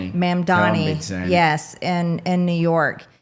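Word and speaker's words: Mamdani: Mandani. Mandani.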